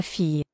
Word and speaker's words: fille: La fille. La fille. La fille. Okay, so we got to remember those L's are completely silent.